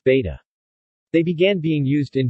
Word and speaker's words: becak: Indonesia cycle rickshaws in Indonesia are called besik, pronounced beta.